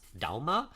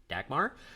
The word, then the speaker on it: Dagmar: is so in Danish that would actually be pronounced Dalma but everything that we found with english- speaking people they pronounce it Dagmar so we're going to stick with that but